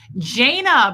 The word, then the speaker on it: Jana: Jana, by the way, rhymes with Dana.